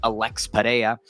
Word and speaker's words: Pereira: Alex, or as a lot of people say, the correct pronunciation, Alex Pereira, defeats Yuri Prochazka in what was a shorter notice main event for both guys.